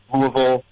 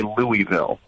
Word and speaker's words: Louisville: of a universal, like people that aren't from Louisville say Louisville, right? Mm-hmm. But, for people that live here, it's Louisville. Or Louisville. Louisville. Like some people drop more than one syllable. So some people drop it such as Louisville, and other people go Louisville. Yeah, like almost rolling the tongue, I guess.